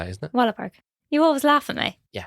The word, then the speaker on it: Wahlberg: Donnie Wahlberg comes in.